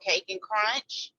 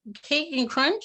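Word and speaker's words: Kake N Krunch: Oh my gosh, that is Cake and Crunch, you said? K, it's spelled with a K, K-A-K-E, and then the letter N, and then Crunch is spelled with the K also.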